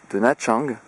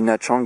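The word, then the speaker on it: Nha Trang: Ah, je vais vous faire une petite présentation de Whale Island, une petite île située dans une archipel au nord de Nachang, qui s'écrit Natrang, N-H-A, plus loin, Trang, voilà.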